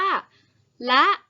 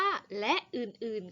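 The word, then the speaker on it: ฯลฯ: ท้าย ซึ่ง การ อ่าน เรา จะ อ่าน มัน ว่า ละ หรือ อ่าน ว่า และ อื่น ๆ ก็ ได้ นะ คะ โดย ส่วน มาก แล้ว ที่ เขา นิยม อ่าน เขา จะ นิยม อ่าน ว่า และ อื่น ๆ ค่ะ ก็ อยาก ค่ะ เมื่อ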